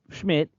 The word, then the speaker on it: Szmyt: brought in and uh it is Schmidt it's szmyt that is how he spells Schmid um say it again what how you spell it s is in snake Z Zulu M YT that's Schmid yes y okay whatever